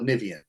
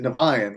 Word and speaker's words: Nivian: Most people call it Nivian. Nivian, Nivian yeah. is the correct. Yeah, that's the correct pronunciation. But we, as stupid Americans, we pronounce it Nevian, which is incorrect.